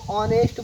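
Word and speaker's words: honest: अगर ओ से पहले यच आ जाए तो साइलेंट, तो इसको ऑनेस्ट बोलते हैं, तो क्या लगाएंगे, अन।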